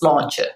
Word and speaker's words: sláinte: remember is our equivalent of cheers, which is sláinte, which is, means your good health, which it does in lots of countries. I suppose it's like salute. So yeah, if you say sláinte and you raise your glass or your cup